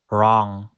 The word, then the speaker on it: wrong: Finally, the letter W is silent at the beginning of a word before the letter R. For example, wrong, wrist, right, wrote.